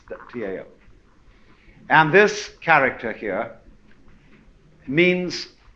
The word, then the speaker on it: Tao: are you a Democrat we should have spelled it d w you see but it's Tao and this character here